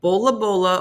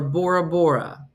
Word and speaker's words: Bora Bora: language to the other since tesan does not distinguish between the sounds p and B the sound represented by P lies between the two and the r represents a sound not present in the English similar in a sound to the something and the something and the something and the something so you can pronounce it the pronunciation of poor as Bola Bola or Bora Bora when Explorer Jacob somebody